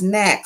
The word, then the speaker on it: NAAQS: The National Ambient Air Quality Standards, pronounced NAAQS, State Implementation Plan, SIPS, New Source Performance, and National Emission Standards for Hazardous Pollutions.